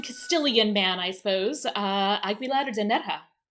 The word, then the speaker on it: Aguilar: Agular and like really guttural harsh version with the hard G which doesn't make any sense whatsoever especially when the other Spanish speaking characters call it.